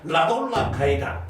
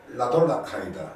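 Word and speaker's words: Radola Gajda: 근데 이 군단에 그때 대표적인 그 체코의 그 장군이었는데 라돌라 가이다. 네. 한번 따라해 보십시오. 라돌라 가이다. 라돌라 카이다. 예, 저보다 발음은 좋으시네. 체코 전공하셨어요. 라돌라 카이다. 예, 독일어 비슷한 건데 이 라돌라 가이다 장군이 군단장이 됩니다.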